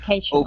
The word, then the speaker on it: occasionally: So here, this A is a long A sound. Okay? Occasionally.